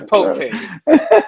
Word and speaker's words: Chipotle: Say Chipotle. It's Chipotle. Is what we'll say it again? It's Chipotle. Chipotle? Okay, Yes. okay. I don't eat that shit. So that's like country as hell, huh? He said Chipotle.